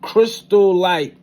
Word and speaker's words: chrysolite: And the appearance of his body was like a sapphire, and the look of his countenance like a crystal light. Crystal light, which is spelled CHRYSOLITE, and the hair of